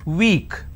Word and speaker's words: weak: arrogant sick feeble means weak now don't make a mistake between w e a k and w w k both are pronounced the same way a week is basically